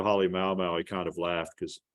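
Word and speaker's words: Halemaʻumaʻu: he's from Hawaii, and you have to pronounce it like the Hawaiian. So he trained me to say it the right way, but I don't like saying it because it makes me sound too Polynesian. But the correct pronunciation would be Hale Mau Mau.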